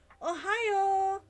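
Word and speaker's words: おはよう: good afternoon good evening Ohio we stress on the last single syllable may get longer hello but still only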